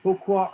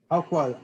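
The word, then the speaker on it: Howqua: And he was known in the West as Hokwa or Haokwa. Haokwa, we think is how it's pronounced. I may revert to Hokwa just accidentally.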